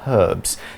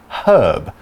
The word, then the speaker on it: herb: willow bark they are herbs now a quick note on pronunciation people from the UK will pronounce the H and we will say herb people from the US don't really pronounce the H they will say herb